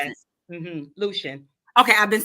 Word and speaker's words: Lucian: Is it Lucian? How do you Lucian, pronounce it? yes. Lucian.